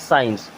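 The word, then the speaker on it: science: भी सी लिखा है अगर सी को हम हटा देते हैं यानी कि नहीं बोलते हैं तो क्या हो जाएगा एस आई ई एन सी ई यानी कि अब इसे क्या पढ़ेंगे साइंस और साइंस मींस विज्ञान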